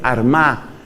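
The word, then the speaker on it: Armagh: sede de San Patricio la sede de San Patricio fue armá que se escribe con gh al final San Patricio desde la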